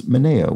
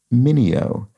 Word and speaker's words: Mineo: pronounced the actor Sal I pronounced his surname as manea maneo which I think would be closer to the Original Italian pronunciation but um as Jim points out it's in fact pronounced Mineo and that is apparently